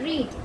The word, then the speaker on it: read: Then Peter read, READ read. Past tense is wrote, read. READ. Spelling will be same, but past tense pronunciation will be different.